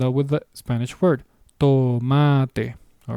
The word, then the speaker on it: tomate: It is the same pronunciation as the English equivalent practically. to and by that I mean the actual consonant. I'm talking about the consonant. It's the same sound to.